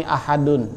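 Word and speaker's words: أحدٌ: Alif di awal ya cara bacanya ah dan Mohon maaf ini ahadun ya baca cara buat Adul kemudian ditulisnya ahadun pula kemudian contoh lainnya adalah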